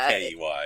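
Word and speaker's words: quay: I mean I know it's spelled qua, but it's I think Q U A Y, but it's pronounced key.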